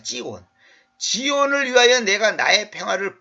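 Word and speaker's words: צִיּוֹן: 지온을 위하여 내가 원래 히브리어 발음으로는 찌온입니다. 찌온.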